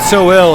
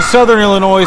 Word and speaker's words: Southern Illinois: Yeah, I hear some people call it so ill and I'm like I think Southern Illinois sounds better just like Cberus.